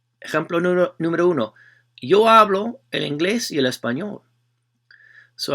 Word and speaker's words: hablo: how you pronounce it how you accentuate it with the stress right it's hablo so the first syllable second syllable work backwards counting syllables so second syllable is hablo so you're gonna stress or accentuate that one when you say it when you pronounce it so hablo hablo your